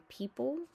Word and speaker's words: people: EO, the O is silent, says E as in people.